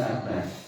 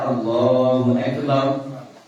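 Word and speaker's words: الله أكبر: Sering kita itu ketika jalan di mana kemudian mampir di masjid, imamnya itu membaca panjang bab lafaz akbar.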